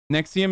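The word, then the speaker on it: NXIVM: Nexium is how you pronounce it.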